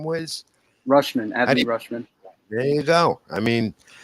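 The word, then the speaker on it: Rutschman: the catcher that came up how do you pronounce his name wiz rushman anthony rushman there you go i mean and the mariners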